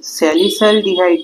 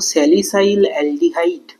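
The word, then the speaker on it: salicylaldehyde: ফেনলকে যখন chloroform NaOH 60 degree centigrade and HCl যখন দেওয়া হবে, তখন ফেনল থেকে স্যালিসাইলডিহাইড তৈরি হবে। খুব শুদ্ধ ভাষায় উচ্চারণ করলে বলবো স্যালিসাইল অ্যালডিহাইড।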